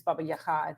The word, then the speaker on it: Baba Yaga: So people will know her as Baba Yaga, or Baba Yaga, but in Ukrainian it's Baba Yaga. It's just a different sort of sound to that second syllable of Yaga or Yaha.